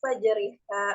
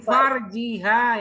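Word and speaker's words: فرجها: khala biha falahal mahru bimastahalun min fajriha Min farjiha, yang benar.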